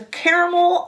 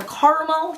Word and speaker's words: caramel: I did take out the caramel or caramel depending how you pronounce it and the bottle green